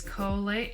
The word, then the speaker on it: Colie: First things first, my name is Colie. It was Nicole, but I changed it when I was 16. It's not Colie like the dog, like a lot of people think. It is spelt like this.